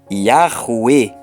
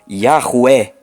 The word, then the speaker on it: Yahweh: Ora, unindo-se os 3 passos acima, chegamos à seguinte pronúncia: Yahweh, Yahweh, dependendo do sotaque. Frisando-se que a sílaba Ru produz o som que se encontra no vocábulo rua. Então, o nome de Yod-Heh-Vav-Heh tem o seguinte som em língua portuguesa: Yahweh ou Yahweh.